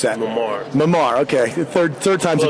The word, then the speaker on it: Memar: How do you pronounce that? Memar.